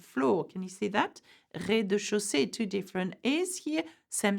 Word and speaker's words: rez-de-chaussée: Rez-de-chaussée, the ground floor. Can you see that? Rez-de-chaussée, two different E's here, same sound.